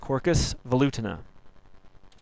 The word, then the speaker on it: Quercus velutina: Black Oak is very wide and again it's pronounced corcus volutin